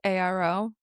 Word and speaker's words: Madcharo: So at Madcharo, Madcharo. I know the D is not how you say it.